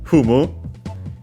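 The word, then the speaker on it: ふむ: Humu is simply like in English, as of course in the sense I see, accent on the first syllables on the fu.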